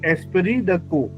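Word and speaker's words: esprit de corps: अस pronounce रोंग इस एस्परी टी इज not pronouns and कोर पी इज नॉट सो एस्परी द को so that even army section you know दे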